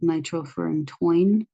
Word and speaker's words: nitrofurantoin: that I remembered this, if you pronounce the end of this as like nitrofurantoin, I would say if you have a fury in your groin, use nitrofurantoin. And that's because it's drug for UTIs.